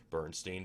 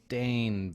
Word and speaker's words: Berenstain: And he said, just like you did, Bernstein Bears. Go ahead, pull that up. So here are several images of actual book covers Yeah, how of the would you pronounce that? Berenstain Bears.